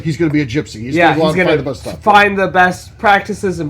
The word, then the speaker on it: Jypsi: a whiskey here called Gypsy now it's spelled j-y-p-s-i and I guess it sounds like Darren based on the name it's kind of strategic